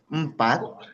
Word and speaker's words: empat: And for 2, we pronounce it dua. And 3 is tiga. Tiga. Very good. And 4 is empat.